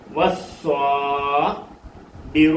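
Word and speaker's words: والصابر: അലിഫിനും ലാമിനും ഉച്ചാരണമില്ല. അലിഫിനെ ആ ഇ ഉ എന്ന് പറയത്തില്ല, ലാമിനെ ലാ ലീ ലു എന്ന് പറയത്തില്ല. വസ്വാബിറു, ബ ബി റാ റു.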